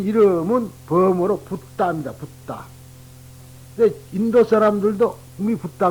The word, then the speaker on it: 붓다: 붓다.